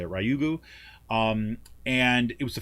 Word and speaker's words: Ryugu: um to this um asteroid called ryugu i think is how you say ryugu um and it was